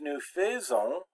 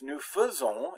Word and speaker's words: nous faisons: And it's not pronounced nous faisons, it's nous faisons. It's like this, that AI is pronounced like an E without an accent mark.